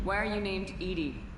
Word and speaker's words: EDI: why are you named edie edie is the phonetic pronunciation of edi that is an acronym for enhanced defense intelligence okay how are you